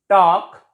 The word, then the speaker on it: talk: L is silent before K. Chalk, talk, walk. We can say that L is silent before K in most of the words.